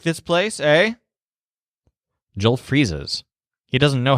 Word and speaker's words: he: Now, Joel's word here is eh. It's spelled H-E, but it's simply pronounced eh.